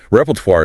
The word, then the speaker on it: repertoire: The challenge here is entirely that French origin again complicating the ending sound, isn't it? It is. That war ending often gives learners trouble. Repertoire is the range or